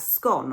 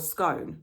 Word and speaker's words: Scone: going to be crowned at Scone or Scone, depending on how you pronounce that word.